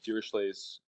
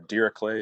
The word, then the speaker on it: Dirichlet: a lovely theorem called dirichlet's unit theorem or dirac clay if you prefer the german pronunciation so we'll talk more